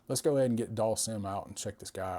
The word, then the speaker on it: Dhalsim: I say Dhalsim, but I'm from the South and every vowel has a long sound down here.